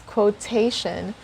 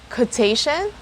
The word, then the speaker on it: quotation: fungi are correct pronunciation the last one is quotation can you think of another way of pronouncing this word it's quo it's quotation so this word is quote both code and quote are correct what's the difference listen closely code quote quotation quotation the difference is the sound of the letter w the second one has the